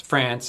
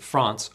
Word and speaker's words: France: English France is pronounced France in American English and France or France in British English the France pronunciation with a is mostly confined to Accents with the trap bath split such as received pronunciation